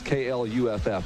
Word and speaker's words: Clough: The guy just texted me and told me it's KLUFF. That's phonetically how you say it.